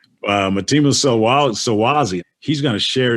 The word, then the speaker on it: Mtima: And they said, it's Mtima. Mtima Solwazi.